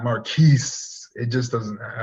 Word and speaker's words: Marquise: And number 18, Marquise Brown, home against Philadelphia. I would love to rank this guy a little higher, and I love to pronounce his name in French, Marquis, not Marquise.